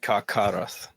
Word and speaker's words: Carcharoth: I love this that Carcharoth or I don't know if CH is a K sound. It's pronounced as like Carcharoth.